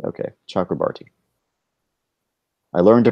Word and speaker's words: Chakrabarti: Chakrabarti. Okay, Chakrabarti. I learned to pronounce his name right.